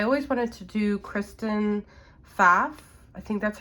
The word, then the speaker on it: Pfaff: I think it's Pfaff, how you pronounce her name, but it starts with a P.